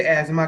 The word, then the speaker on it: asthma: इसे अस्थमा कहते हैं, बट एक्चुअल में इसमें दो टी एच है ना, वो साइलेंट ही होता है। ओके, जो फॉरेन के लोग हैं, जो बाहर के लोग हैं, वो इसे एजमा कहते हैं। Okay, एजमा, एजमा condition. तो बिल्कुल जो पर चलिए कोई बात, बट हमारे इंडियन लैंग्वेज ऐसी कि हम लोग इसे अस्थमा प्रोनाउंस करते हैं।